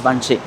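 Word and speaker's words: Văn Trì: It's called Vanchi. Well, it's spelled as actually Vantri, but it's pronounced as Vanchi.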